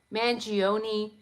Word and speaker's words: Mangione: Mangione is pronounced like pepperoni.